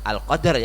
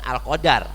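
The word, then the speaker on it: القدر: malam Hai malam kemuliaan al-qadr ya bukan al-qadar bacanya dalilnya disukun ya Jadi kalau al-qadar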